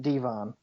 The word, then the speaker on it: Devin: I completely forgot that was his real name, but I'm like, Devon, it's spelled Devin. Yeah, exactly. They just pronounce it Devon.